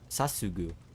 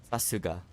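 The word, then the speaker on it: さすが: Sasugu. Oh crap. I'm forgetting how to say this. Sasuga. Why I say goo?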